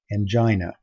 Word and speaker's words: angina: this word and hopefully you'd say something like angina or as you can see there's an alternative pronunciation in your book and Jenna and I